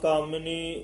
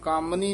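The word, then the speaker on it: ਕਾਮਿਨੀ: अहंकार चुका तज काम कामिनी मोह तज तज काम कामिनी मम्मे दे सहारी लगी हुई है उच्चारण करनी है कामनी नहीं कहना कामिनी इस तरह बोलना ताज काम कामिनी मोह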